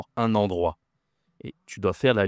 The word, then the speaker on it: endroit: Un endroit. Attention ici c'est la consonne, d'accord ? Un endroit. Ici tu as une nasale aussi le en endroit. D'accord ? Un endroit.